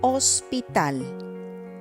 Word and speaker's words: hospital: You don't pronounce it. For example, hospital, hermano, hielo.